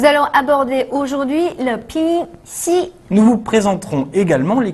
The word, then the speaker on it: xi: Le pinyin xi s'écrit de la même façon que la consonne X française. Cependant, le pinyin xi se prononce ch tirant vers le S.